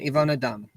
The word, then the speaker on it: Yvonne Dram: you good good and is that the correct pronunciation ivana dumb yes fantastic so ivana i know that you're